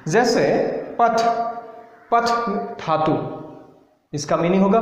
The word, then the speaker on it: पठ्: सो इसका प्रोनाउंस भी ऐसा होगा, पथ, लिख, हस, हलंत है उसमें स्टॉप करना है।